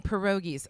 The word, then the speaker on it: pierogies: So, Ernie Ritchie's sausage, ugly dumpling pierogies.